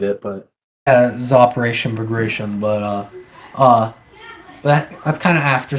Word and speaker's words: Bagration: Gratian. I don't know how you say it. It's Bagration. I'm gonna call it Bagration.